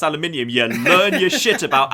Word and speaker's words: aluminium: think it was no aluminium is the actual element aluminum is just an accepted North American variant I thought that was